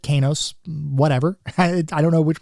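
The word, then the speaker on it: Qeynos: And some people pronounce it Kenos. I pronounce it Kos.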